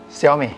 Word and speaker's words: Xiaomi: So I was trying to avoid all intonation to avoid this mistake because in English it would just be Xiaomi.